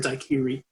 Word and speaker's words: daiquiri: Jennings Cox made what we called a daiquiri or a daiquiri, as he pronounced it properly then, but do not now, because you'll seem silly, and how we got to it being a classic cocktail.